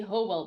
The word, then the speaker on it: Howell: It is Welsh surname. Well, Howell. Because I say Howell, but it's it's not How?